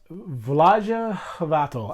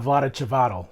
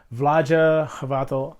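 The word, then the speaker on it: Vlaada Chvátil: games and designed by V's vaja havato I believe is pretty close to pronouncing his name I know it's not Vlad chavat so that much I know for sure vah havato hope I'm getting your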